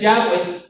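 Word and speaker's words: Yahweh: la han pasado viendo cómo se pronuncia el nombre que más por el que más se han ido la mayoría de los estudiosos es yahwe Y entonces le dice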